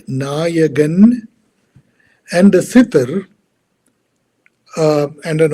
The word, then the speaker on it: Nayagan: My name is Nayagan. It's pronounced Nayagan, and a sitter and